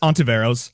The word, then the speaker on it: Ontiveros: Uh so even the embarrassing thing I can't pronounce it 100% correct so ashamed to my Hispanic side of the family but it's just onto Varos. I can't roll my Rs.